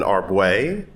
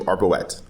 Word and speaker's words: Arbouet: It is, I accept two pronunciations. Okay, you can either call me Arbouet. Arbouet. Which is the French version and how I usually say it. Yeah. Or I also answer to Arbouet.